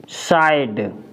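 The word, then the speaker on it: side: एस आई डी ई साइड, क्या पढ़ेंगे?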